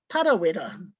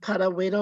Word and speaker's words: Parawera: besides my own is Parawera. Is it Parawera or is it Parawera or is it Parawera? And it makes a big difference as to whether you pronounce the name long or short as to the meaning